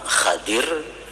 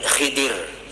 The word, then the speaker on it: Khidir: Jadi membacanya ada dua cara. Yang pertama Khadir, Nabi Khadir, atau Nabi Khidir.